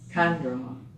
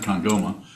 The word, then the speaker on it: Kandroma: Kandroma. Yes, it's emphasis on the first syllable. It's not condoma, it's condoma.